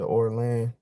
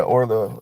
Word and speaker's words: Orla: Um or um is it Orin? Orla? Yeah, Orla. I'm say her name right.